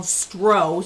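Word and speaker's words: Stroh: proof R 160 proof it's called stro so you think of the the beer stros spelled the same way stro rum that's like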